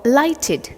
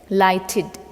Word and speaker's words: lighted: The correct pronunciation is lighted. There's a sound of id at the end of this word. It's not ed.